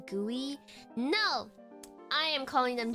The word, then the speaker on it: GUI: As someone that has made GUIs, it's most it's definitely gooey.